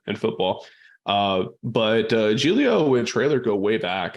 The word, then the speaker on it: Giglio: guide on that because it doesn't just pronounce the way that it reads Julio yep Julio yeah so he comes